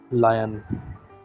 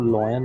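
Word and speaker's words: lion: एल में सीधे सीधे ला का साउंड आता है, एक ही साउंड आता है इसमें ला का, लायन। इसको लॉयन नहीं कहते हैं, लायन कहते हैं, है ना।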